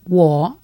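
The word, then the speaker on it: 我: I is wo, and it's got the down and up again.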